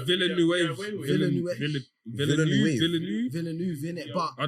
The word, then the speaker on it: Villeneuve: I find it difficult to pronounce the second name for some Dennis, reason. Dennis. Villeneuve. It's Villeneuve.